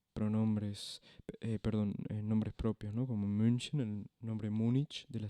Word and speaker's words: München: Como München, el nombre Múnich de la ciudad.